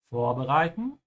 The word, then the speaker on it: vorbereiten: It's a separable verb, so make sure you emphasize the beginning, vor, and pronounce the V like an F, yeah? And the O also has a slight W sound at the end, you notice because of the R, so vor, yeah?